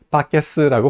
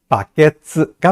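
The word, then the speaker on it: バケツ: 얘기 정말 많이 썼었어요 한국 사람들 밖에스라고 발음하는데 팟캐스트가 아니고 뭐죠 바케스가 맞습니다 바람 들어볼까요 한번 더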